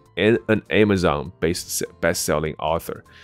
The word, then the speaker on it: Amazon: 但如果你要走的是北美的发音的话，它叫做 Amazon， Amazon， OK，所以不是 Zone 的发音。如果是 Zone，听起来像这个字 Amazon， Amazon，但无论